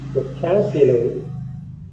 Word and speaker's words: vocabulary: So vocabulary. The stress should be on the second syllable.